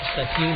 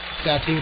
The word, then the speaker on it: Satin: It's spelled like Satin, S-A-T-I-N. The PA announcer called it Satine, and we'll go with that.